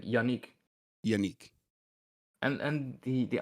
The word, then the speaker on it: Yannic: end up pronouncing it unique yeah or like yanic yanic too yeah but it's like the the a is kind of um like I pronounce it like a short a like Yanik yanii and and the